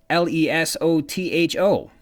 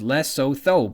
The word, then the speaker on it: Lesotho: Lesotho, and it's spelled L-E-S-O-T-H-O, which I interpret as Lesotho, but that's not quite right. It's an African nation, and so is pronounced with an African dialect, which Junior Ryan didn't